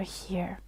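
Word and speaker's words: 日: two three four and here it is so how do japanese people call the sun or the day so it's pronounced he you can see it here the japanese reading he this is the hiragana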